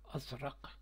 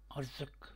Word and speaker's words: ازرق: جیسے عربی کا ازرق جس کا معنی نیلا، یہ غلط تلفظ کی وجہ سے ارزق بن جاتا ہے.